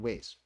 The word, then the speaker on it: Wajs: Ollech and Wajs or Ways? Ollech and Ways.